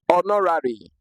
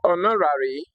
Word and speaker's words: honorary: Honorary. Okay. So, the word honorary starts with an H, but the H is silent.